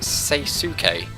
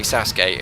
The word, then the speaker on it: Sasuke: Naruto's uh anime there because I used to pronounce it saysuke but it's actually obviously Sasuke as if you've watched um Naruto or you've